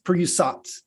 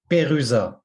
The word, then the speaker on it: Perusat: of pronounce it englishwise pusat uh say it in French the way a Frenchman would say it and I'll try to